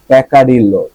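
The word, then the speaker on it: peccadillo: রাখতে পারেন ওকে ারসিটি of cookie in জার প্যাকাডিল প্যাকাডিল প্যাকাডিল প্যাকাডিল প্যাকাডিল না প্যাকাডিল প্যাক অডিলো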